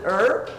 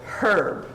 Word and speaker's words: herb: How many pronounce it herb? And how many pronounce it herb with a hard H?